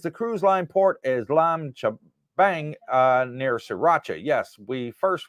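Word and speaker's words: Laem Chabang: La M Chabang. Let me pronounce it correctly there.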